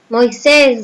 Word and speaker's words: Moisés: Moisés, ¿dónde lleva mayor fuerza de voz? Acento. En ses.